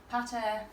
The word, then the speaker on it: pater: we say Martha and Pater or Mater and Pater, Yeah. but they don't rhyme. Because pater has a short A and mater Has a long has a long A, so they don't actually rhyme.